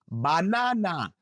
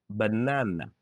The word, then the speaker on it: banana: Don't say about, again, banana. Say about. Uh, uh, about. Again. Uh, uh, again. Banana. Uh, uh, banana.